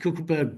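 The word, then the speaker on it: Kogelberg: itself that occurs in the co cleberg it's pronounced cleberg biosphere at the bottom there this is a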